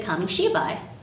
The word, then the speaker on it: kamishibai: japanese gardens today we're going to read a kami-shibai you can say it with me she bye